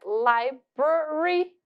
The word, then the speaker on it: library: Library. O R do inglês é esse R bem, que a gente chama no português do R caipira, né?